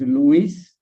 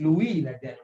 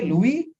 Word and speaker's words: Louis: French French pronunciation and this is a French pronunciation because this guy is from France so this one will be pronounced as UV and just Louis not not Luis okay Louis so Louis Braille of